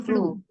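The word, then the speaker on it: flew: bukan FL flu flu bacanya flu ya flu bukan flow tapi flu flu apa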